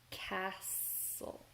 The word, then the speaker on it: castle: So cake, camel, cold, camp, corner, cuddle, castle. We don't really hear the T.